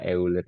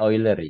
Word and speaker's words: Euler: itu kalian Bacanya apa euler itu euler aja gitu harusnya bacanya oiler Ya kalau kalau kalian tahu apa ya vokal ya jadi eer itu harusnya bacanya itu oiler oiler sama kayak kalian itu